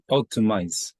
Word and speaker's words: optimize: that optimiz optimizes optimize optimize optimize okay thank you yeah the last letter is a z so oops so it had it has kind of like a vibration at the end so it's